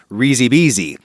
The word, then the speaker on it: risi e bisi: Risi bisi. Or throw a little elision in your pronunciation and it's risi bisi.